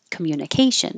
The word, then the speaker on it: communication: And this came up that it's communa or communi, but not communi. So communication is correct, but it's too correct. So it sounds weird to native speakers that wouldn't speak that correctly. So communi or communa, communication. And I underline K because that's going to be secondary stress here. It's going to be longer.